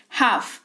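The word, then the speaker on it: half: लेकिन एल जो है वो साइलेंट रहता है ड्यू टू साइलेंट लेटर्स का जो रूल होता है उसके हिसाब से कि एफ है करके इसी वजह से साइलेंट हो जाता है।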